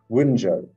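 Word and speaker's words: Wunjo: Wunyo, that's how you pronounce it.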